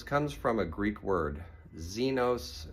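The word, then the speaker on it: ξένος: Zenos means stranger. It's spelled with an X.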